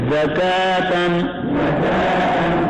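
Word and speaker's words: زکوٰۃ: بالاسکان شہر فجرین قدرین زکاتن. زکات کے کاف کے بعد جو واو ہے یہ نہیں پڑھا جائے گا, ہجے میں بھی اور روان میں بھی.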